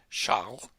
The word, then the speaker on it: Charles: cataloged by the French astronomer Charles that's how you say it in French in his catalog the